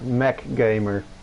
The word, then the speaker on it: MC Gamer: Gwyneth says in the chat that we have to pronounce MC Gamer as Mac Gamer.